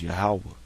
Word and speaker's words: Yahawah: this all right and the way you pronounce it in the Hebrew is yahawah okay that's the name of the heavenly father yahawah okay your God which